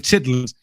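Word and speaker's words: chitterlings: been I put in chitlings often wondered uh what what that was i' never researched it yes chitlin pronounce pronounced chitlin chitlings CI t t e r l i n gs they are pig intestines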